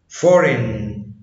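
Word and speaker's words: foreign: حرف جي لا ينطق اذا جاء قبله حرف الاي وجاء بعده حرف الان. زي ساين ساين لاين لاين ريزاين ريزاين فورين فورين.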